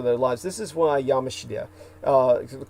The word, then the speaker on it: Yamashita: This is why Yamashita, the correct pronunciation of his name when you say Yamashita's